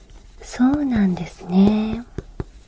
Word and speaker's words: そうなんですね: Be careful, your pronunciation is そうなんですね. It's not good. そうなんですね. There are two mountains, big mountain and small mountain.